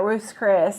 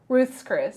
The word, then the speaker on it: Ruth's Chris: going we got a gift card to uh ruth chris and so i think we're gonna try to